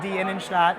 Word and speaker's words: Die Innenstadt: So it's pronounced Die Innenstadt.